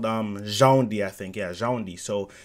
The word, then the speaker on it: Djoundi: DJOUNDI, I said it right. See, DJOUNDI. The D is silent.